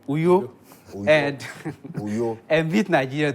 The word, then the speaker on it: Uyo: You better help me pronounce it well. Is it Uyo? Uyo. Uyo.